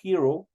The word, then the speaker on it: hero: que significa Ecos Hero este es una H aspirada que se eh pronuncia como una gran J Por eso digo Hero significa Hero qué es